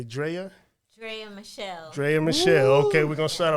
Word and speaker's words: Draya Michele: Draya Michele.